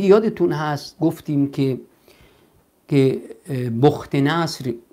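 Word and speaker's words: بخت‌نصر: هست گفتیم که که بخت نصر به تلفظ عربی یا بوخ نصر در خواب دید که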